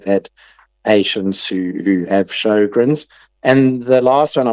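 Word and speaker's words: Sjögren: Um, and it's called Shogrin syndrome, which is spelled SJ and then an O with two littleies on it. Two little dots above it. G R E N. Shogrin syndrome.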